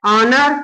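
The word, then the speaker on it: honour: का ही प्रयोग होगा उसी प्रकार हम इसको क्या बोलते हैं ऑनर ये तो आपका पहला अक्षर क्या होता है साइलेंट होता है ऑनर आवर और ये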